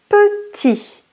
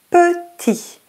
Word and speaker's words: Petit: Petit. The T is silent. Petit.